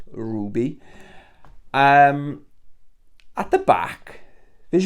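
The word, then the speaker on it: RWBY: picked up Ruby okay wrby it is pronounced Ruby um at the back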